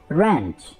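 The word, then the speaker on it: wrench: जोरदार झटके को हम इंग्लिश में बोलेंगे रेंच, रेंच। इसमें W प्रोनाउंस नहीं होगा।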